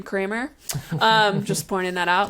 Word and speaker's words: Kramer: a newer tool and also happens to rhyme with my last name Kramer um just pointing that